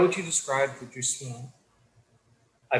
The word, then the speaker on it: jouissance: How would you describe the Jouissance? I butchered that and I apologize.